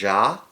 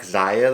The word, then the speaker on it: XIA: I've heard it pronounced Ja. I don't know. I think I like XIA though, so that's what we're going with.